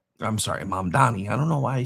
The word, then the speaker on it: Mamdani: Uh Mayor Zohran Mamdani, I'm sorry, Mamdani. I don't know why I still say his name wrong.